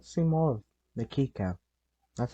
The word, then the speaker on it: Kika: I wish I got to see more of the Kika. That's how you pronounce it now, apparently.